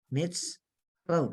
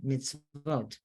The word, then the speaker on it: mitzvot: then it kind of forces you to say vote. Mitz, vote. Oh. So it breaks it up, and then you see the whole word, mitzvot. Right? That's a silent schwa. It's end of the syllable, meets, and the sadi is filled, and so it's got the independent vav, like a wayward child, with a dot, mitzvot. Okay?